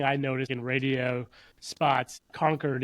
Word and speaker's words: Concord: Like one thing I noticed in radio spots, conquered is our capital in New Hampshire. And so if somebody says Concord, I know right away that whoever wrote that ad is not from this area.